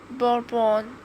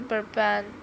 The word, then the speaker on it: bourbon: You know, it's often pronounced bourbon, but actually it's a softer burban.